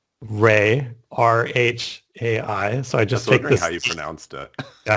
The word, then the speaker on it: Rhai: I worked on a Chaiscript-like thing called Ray, RHAI. So I just take wondering this. how you pronounced it.